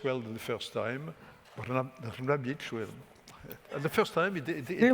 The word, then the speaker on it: Brnabić: So I launch immediately the discussion, starting with you, Madame Brnabić. I pronounce less well than the first time. Brnabić.